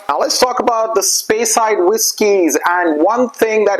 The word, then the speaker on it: Speyside: Now let's talk about the Speyside whiskies.